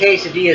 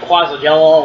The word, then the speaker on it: quesadilla: quesadillas I can't remember I believe the quesadilla is actually spelled like quasi Jello or whatever but it's actually quesadilla and uh so anyway